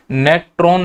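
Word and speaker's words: Natron: इसको नेट्रो झील भी पढ़ते हैं। अगर इंग्लिश में लिखूं तो ऐसा लिखा जाएगा नेट्रॉन, एन साइलेंट भी कर सकते हैं, नेट्रो झील भी हो सकता है।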